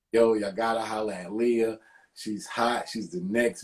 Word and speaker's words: Liyah: Right now, we're on the line with my homegirl, Liyah.